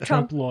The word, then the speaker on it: trompe-l'oeil: How do you pronounce that? Trompe-l'oeil.